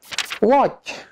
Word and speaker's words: watch: Number 5, silent T. Friends, TC, T is not pronounced. Ternyata teman-teman, TC, T-nya tidak dibaca. For example, repeat after me. Watch, watch.